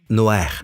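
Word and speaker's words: נח: Et le nom de Noé est Noer. Il le prononce Noer. Tout le monde dit Noer.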